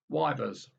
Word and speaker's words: Ypres: Just as the British Tommy in the First World War, baffled by the Flemish wool trade city of Ypres, YPRES, settled the problem with something simple and logical, wivers.